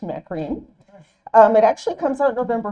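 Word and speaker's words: McCaughrean: It's by Geraldine Macarene. That's not what her name looks like, but I found out that's how it's pronounced, Macarene.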